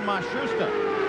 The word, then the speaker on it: Matsushita: Now it seems that they have settled on Matsushita.